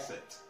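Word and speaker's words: cette: Set. Set. Yeah. It's pretty much the same pronunciation with the number seven.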